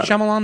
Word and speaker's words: Shyamalan: It's called It's pronounced m Shyamalan.